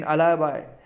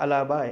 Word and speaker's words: alibi: then अलाबाई, ALIBI, अलाबाई, आप उसको एलिबी भी बोल सकते हैं आपको यूज़ करने के लिए, लेकिन उसका एक्चुअल प्रोनाउंसिएशन है अलाबाई, ALIBI, a claim of being